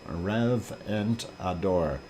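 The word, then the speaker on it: Reventador: rev ant and door rev and adore it rhymes with EK wador I know I know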